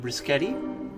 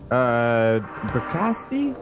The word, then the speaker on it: Bricasti: Oh, it's the closest emulation of the Brischetti reverb, the hardware one. Bricasti? Yeah, I never say it properly because Yeah. I'm French.